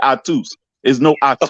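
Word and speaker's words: Ahtoo: see it now your your name is I too pronounce pronounce a-h-t-o-o oh so like the dance effects on like octo spit that no no you say I twos okay I get it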